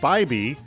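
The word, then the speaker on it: Biby: B-I-B-Y is pronounced Bybee.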